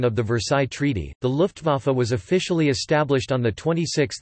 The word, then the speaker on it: Luftwaffe: The Luftwaffe (German pronunciation: Luftwaffe, listen) was the aerial warfare branch of the combined German Wehrmacht military forces during World War II.